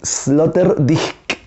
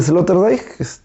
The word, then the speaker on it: Sloterdijk: Pero se pronuncia, así dicen, yo no sé alemán, debería pronunciarse, debería pronunciarse Peter, porque en alemán no es Peter, ¿no? Debería pronunciarse Peter Sloterdijk, así dicen que debería pronunciarse.